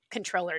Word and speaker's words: Comptroller: numbers thanks again to controller mendoza for coming on you can go to her office's website illinoiscontroller.gov and remember that's spelled like comp troller to check out her